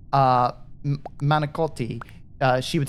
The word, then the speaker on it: manicotti: instead of saying uh manakoti uh she would say menagolt like she would drop the I at the end and say it with a G uh just like um